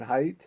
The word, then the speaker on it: Haidt: That John Haidt, is that how you pronounce it?